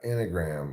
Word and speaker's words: enneagram: He's talking about enneagram, of course.